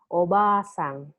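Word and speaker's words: おばあさん: see obasan and obasang when it is a short vowel just like this obasan that means and but if you are going to make it into a long vowel you add another character ah obasang you prolong it a little so that the meaning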